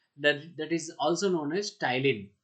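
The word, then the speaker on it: ptyalin: is also known as टाइलिन प silent होता है इसमें टाइलिन को भी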